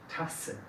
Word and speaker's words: Tasse: Y fuerte es Tasse.